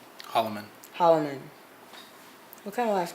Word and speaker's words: Hollomon: kin how do you say your last name Hollman Hollman what kind of last name is that